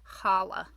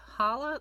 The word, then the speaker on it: challah: So that's why sometimes you'll see Hanukkah written with just an H at the beginning, and sometimes you'll see it written with a CH to represent that guttural H sound.